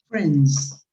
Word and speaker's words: friends: because his third person be careful with the pronunciation of friends i is not pronounced so you actually pronounce this friends okay okay good go